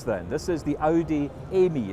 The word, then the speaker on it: Aime: how about this then this is the Audi Amy it's spelled a IM e it's another concept car